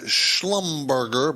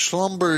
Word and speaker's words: Schlumberger: okay this is a something's called it uh schlumberger but it's slumberger is how you pronounce that uh it's out of